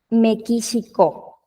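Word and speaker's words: メキシコ: dice acá mequisico mequisico muchos de los nombres de países extranjeros los obtuvieron de Cómo se dicen en inglés en el caso de México Pues de como dicen los los que hablan en inglés como dicen México no México y de ahí salió ese mequisico mequixico dice me quxico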